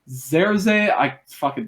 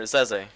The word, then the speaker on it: Zerze: Alfari, Zerze. These names are. Yeah, you pronounce it Zeze.